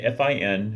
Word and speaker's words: fin: That Vico's philosophy had a great impact on Joyce can even be found in the title, with the French fin, F-I-N, which is pronounced fin, for end, that's the French word